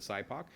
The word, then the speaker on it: SIPOC: So we're trying to, and we start with the customer side, even though we pronounce it SIPOC.